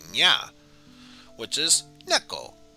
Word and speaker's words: 猫: 猫 Ah, and just as we were talking about dogs, there's also cats that say nya, which is neko.